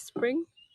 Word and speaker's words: Spring: in vietnamese language and my name is spring yeah spring like the season so it's very easy to to pronounce and as you know